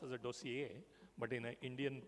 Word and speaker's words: dossier: concept of a doseier it's a French word you know so it should be pronounced as a doseier but in Indian pronunciation of course it's called dossiier so dossier has to